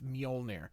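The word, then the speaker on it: Mjölnir: So again, the J has an I sound in Scandinavian. That's why it's Mjolnir, not Mjolnir or something like that. It's Mjolnir.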